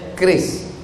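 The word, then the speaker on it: QRIS: Cara bacanya keris.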